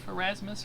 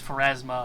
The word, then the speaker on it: Pharasma: Is it Pharasmus or did I say it wrong? Oh no, Erasmus Team Pharasma. Fortress 2. It's Pharasma. I added an S on the end.